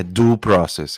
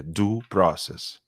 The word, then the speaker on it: due process: É due process, é assim que se pronuncia, tá? Ele não sabe pronunciar, é due process.